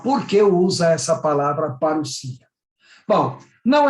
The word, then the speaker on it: parousia: A palavra vinda em grego é parousia, se escreve aí parousia, mas se pronuncia parousia.